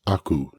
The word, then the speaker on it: 悪: The first being pronounced aku in this compound, meaning evil, wicked, wrong, bad, false, something along those lines.